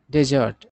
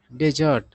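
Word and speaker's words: desert: उसके बाद है डेजर्ट इसका उच्चारण दो तरीके से होता है डेजर्ट मतलब रेगिस्तान मरुस्थल ठीक है ना? और डेजर्ट भी इसका उच्चारण होता है तब उसका सेंस होता है वर्ब वाला। वर्ब के तौर पर प्रज्ञा तब डेजर्ट और नाउन के तौर पर डेजर्ट।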